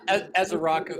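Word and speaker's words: Ezeiruaku: Pronounce that for me, Mike, would you? Oh, yeah, Ezaraku. I'm sorry. What, Jim? Yeah, who came in with that? Anthony Ezaraku?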